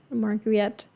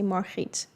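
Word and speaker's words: Margriet: I like how he pronounced that Margaret cuz we um in Dutch you would say Marit, but Margarets are like it as well.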